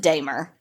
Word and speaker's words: Dahmer: was uh dahmer and his name is pronounced damer so we started off